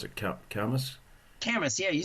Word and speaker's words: Camas: How do we pronounce it? Camas. Camas, yeah, you said it right.